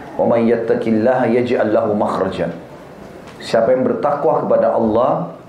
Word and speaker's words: makhraj: Bahasa Arabnya itu mim, kha, ra, jim. Bacanya makhraj.